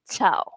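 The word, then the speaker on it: ciao: Okey, chau. Okey, cha. Chau tu adalah helo ataupun bye. Okey, cha means helo dan juga bye. So, cha. Okey. Dia bukan siu ataupun kiau cau.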